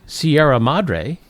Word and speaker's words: Sierra Madre: And the funny thing is they pronounced the name of the town correctly, Sierra Madre, which I believe it means the mother of the Sierras or something. Anyway, Sierra Madre, but there's a street